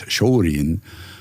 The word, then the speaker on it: Shorin: They couldn't really pronounce Shaolin, so it comes out as Shorin.